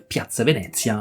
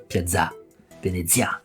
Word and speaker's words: Piazza Venezia: Et à la française, c'est justement mettre l'accent tonique à la fin. Donc il ne faut pas dire Piazza Venezia, il faut dire Piazza Venezia.